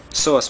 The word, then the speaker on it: psoas: As you can see, I did not pronounce the P. I'm not sure if that's right or not, but psoas muscle.